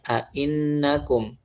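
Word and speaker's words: أئنكم: Yang pertama ikhbar. Ikhbar dibaca apa? Innakum. Adapun yang keduanya dibacanya a innakum. A innakum gitu. Dibacanya apa? Dengan menambahkan hamzah istifham.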